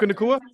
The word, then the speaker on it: Puka Nacua: Did I pronounce that correctly, everyone? Correct. Puka Nacua?